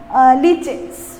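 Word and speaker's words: lichens: तो ये जो फॉर्म होता है structure, that are called as द लाइकेंस और अगेन इट इज प्रोनाउंस लीचेंस।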